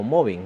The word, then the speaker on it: mobbing: Estamos hablando del tema del acoso laboral, o más conocido técnicamente como mobbing, ¿no? Mobbing o moving, ¿no? Como se pronuncia en el inglés británico, ¿no?